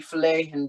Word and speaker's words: flehen: Ach, sie flehen dich. No, okay. The H is not pronounced. Flehen. Flehen.